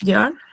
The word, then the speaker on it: Jahr: Tenemos J, que viene a ser la J, que también, o sea, tiene, bueno, se pronuncia como una, digamos, Y en español o doble L. Por ejemplo, das Jahr, el año. Das Jahr eh, se pronuncia, podemos ponerle das Jahr.